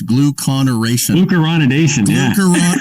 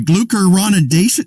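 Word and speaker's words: glucuronidation: obsess over and it's gluconeration sorry glucoronidation listen there aren't many words out there with six syllables in it i'm glucose oh thank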